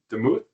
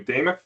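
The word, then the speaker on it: Demuth: house uh we have speaker designates deuth and excuse me damith is how you pronounce it in Hortman and then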